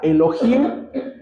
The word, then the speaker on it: Elohim: palabra dioses viene de la palabra hebrea Elohim pronunciada Elohim que en el plural significa el dios verdadero